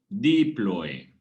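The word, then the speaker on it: díploe: Quedó, al parecer, a este hueso esponjoso definitivo también se le llama diploe. Diploe. ¿Ok? Con acento en la I.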